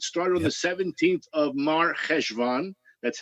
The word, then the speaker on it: Mar Chesvan: It started on the 17th of Mar Chesvan. That's how it's pronounced. Chesvan, but it's Mar Chesvan.